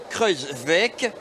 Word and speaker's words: Kruijswijk: Alors, la bonne prononciation, c'est Kruijswijk et Voigt. Pour le néerlandais et l'allemand.